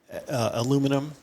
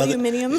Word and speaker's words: aluminium: But the work, this was when aluminum in the American pronunciation and some aluminium.